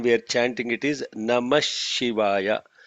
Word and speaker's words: Namah Shivaya: is this 5-letter mantra Namah Shivaya. So what is Namah Shivaya? Namah Shivaya, Namah Shivaya is what we are, when we are chanting it is Namah Shivaya. Namaha Shivaya becomes Namah Shivaya.